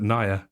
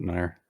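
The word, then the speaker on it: NieR: automata you say yeah i've never heard anybody call it naya yeah i always pronounce it nair oh interesting i mean it's even mean i don't see any reason why i can't i've always called it i always i always i also always hear it pronounced automata or thomas it's automata yeah i say near or tom automata what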